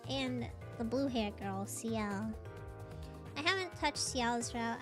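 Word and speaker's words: Ciel: You pronounce it seal, not seal. Yeah, like cuz it's a C and L, you know? C I E L.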